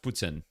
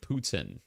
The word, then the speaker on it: poutine: It's pronounced Putin. Yeah. It's like, if you want to pronounce it as English, it's like Putin.